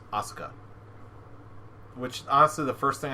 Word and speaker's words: Asuka: name ahsoka damn it I thought it was asuka hit no no it's uh however you want to show you is the you is like barely pronounce it's not quite silent but it's almost there it's Oscar which also the first thing I thought of